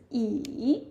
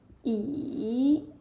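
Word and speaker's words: 椅: So for the first word E that is the third tone. Yeah E which is the third tone.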